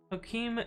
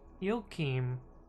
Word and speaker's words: Joachim: You say it the Spanish way, Joaquim, and ideally it would be Joachim.